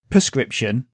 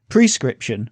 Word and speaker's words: prescription: happens in English too for instance we say prescription instead of prescription which is how it's spelled so now if we look at some